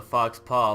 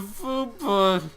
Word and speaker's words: faux pas: Oh, we're in the group is named the Faux Pas. I know, why are we... How did you pronounce that? It's a faux pas, okay?